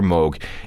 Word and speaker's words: Moog: date that's when Dr Moog introduced the mini Moog or as people came to pronounce it the mini moo it was small it